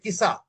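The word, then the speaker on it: Qisas: you can call it KISA, KISA. Okay, sir. Okay, it is pronounced as KISA.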